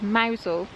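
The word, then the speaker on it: Mousehole: hole and it gives you the correct correct pronunciation as mousel and it just says Paul Venice which is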